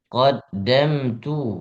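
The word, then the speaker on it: قَدَّمْتُ: dzikra yaqulu ya laitani qaddamat Yaqulu ya panjang. yaqulu ya laitani qaddamat tu lihayati Qaddamtu bukan qaddamat.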